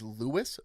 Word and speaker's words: Louis: He would like his name on the scoreboard to read as Lewis Varand.